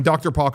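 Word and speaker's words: drpoque: regret that username later because it's hard to spell it should have just been like my name yeah but uh anyway i'm dr park on there d-r-p-o-q-u-e and i would say on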